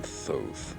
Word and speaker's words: Thoth: I am Thoth, embodiment of knowledge. That's how you pronounce the name that was I there remember before reading on the about you whatever.